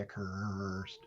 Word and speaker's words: Accursed: Mohr, what was your first impression of The Accursed? Which is appropriate that it rhymes with worst.